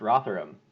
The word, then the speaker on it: Rotherham: is named after the UK city which is pronounced Rotherham okay there we go it's the rather imply